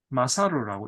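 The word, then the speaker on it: 勝る: 마사루라고 읽는 좋습니다.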